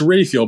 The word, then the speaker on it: Rafael: Dan Dan just quickly is it Raphael or Raphael it's Rafael but I cut you Brit some slack because you don't know how to pronounce anything well I try and say rafhael but I hear so